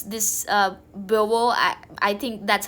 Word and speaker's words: Beauvoir: I don't know how you pronounce this Beauvoir.